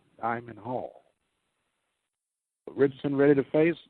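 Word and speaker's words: Diamyn: as he will face Damian Hall Malcolm Boyce and Angel feras Diamond Hall how he's pronouncing it d i a m y n Diamond Hall Richardson ready to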